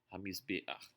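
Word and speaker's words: הַמִּזְבֵּחַ: Quando a última letra for um ayin ou um reit e o patar embaixo dela estiver um pouco à direita aqui, nós temos um patar furtivo, ele vai ser pronunciado antes da consoante.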